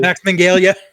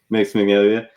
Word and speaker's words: Max Minghella: I try and always fail to pronounce Max Minghela's name correctly. Max Minghella. Max Minghella.